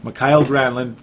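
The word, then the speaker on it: Mikael Granlund: finally M gramlin mckyle since there's like 15 different ways to pronounce his name but that's the correct one I guess mckyle granin man it is going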